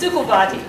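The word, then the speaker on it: Szukovathy: It's Sukovati.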